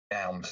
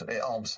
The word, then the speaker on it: alms: Elms. Arms.